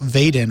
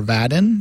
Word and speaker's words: Vaadin: will be back, I believe, to talk about Vaadin, or Vaadin, depending on how you pronounce it, Vaadin, which is a Java framework for building modern web applications.